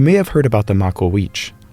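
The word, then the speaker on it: Macuahuitl: You may have heard about the Makawich.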